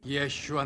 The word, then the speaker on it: Yeshua: Yeshua Nazaret.